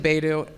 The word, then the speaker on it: Beidou: I also think Beidou. Wait, I always say it wrong. Beidou or Hey, I say it wrong every time. Beidou. or- Beidou. It is Beidou.